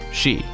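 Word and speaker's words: 死: 4 is considered unlucky the Japanese number for forests pronounced sheet and it sounds similar to the word death which is also pronounced Shi Tech is likely based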